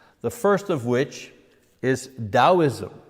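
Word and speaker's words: Taoism: The first of which is Daoism. You know, you pronounce the T like a D. Daoism um uh that comes from China.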